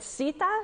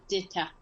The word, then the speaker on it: Dita: Is it Sita? Is that how you pronounce it? That's bird in your language? Sita? It's pronounced as Dita.